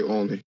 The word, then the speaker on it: Olney: Another nuance to the neighborhood was the different ways people pronounced its name. So black people say Olney, white people say Olney. Aside from the occasional bullying or fighting that broke out, Tim remembers Olney as being a uniquely